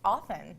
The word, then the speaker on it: often: didn't know whoa Oh often often so we don't put the T in there well if you from